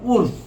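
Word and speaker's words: عُرْف: এর ব্যাখ্যা হলো একটি আরবি শব্দ উরফ, বাংলায় উচ্চারণ উরফ, রস্যৌ র ফ, এবং এর বহুবচন হলো আরাফ।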